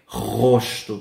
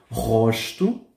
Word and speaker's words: rosto: Depois temos o rosto, ok? Lembrem o seguinte, la primera R, gente, suena desde la garganta, no como no es vibrando la punta de la lengua, ¿ok? Rosto.